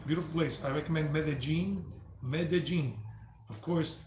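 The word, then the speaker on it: Medellín: medellin medellin of course people that don't know spanish would say mendeline because the double l people would just say lean but it's double l in spanish in most spanish-speaking countries it's pronounced j like in the junkyard dog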